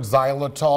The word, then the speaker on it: xylitol: All right, I just learned what the word xylitol, am I saying it right?